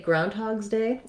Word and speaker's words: Groundhog's Day: once i can say groundhog's day oh and also we have the first syllable stress so the main stress in groundhog's day the phrase is on the ground part so once i can